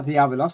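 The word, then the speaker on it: διάβολος: It's clear beyond any possible doubt that the devil, or diabolos, and I'm using the modern Greek pronunciation, in Matthew 4, is introduced to us as the one and only one well-known Satan.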